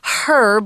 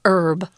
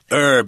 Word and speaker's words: herb: research into this herb if you're in England or some parts of the US they say herb with a h sound but uh most educated Americans say herb herb yeah actually I'm not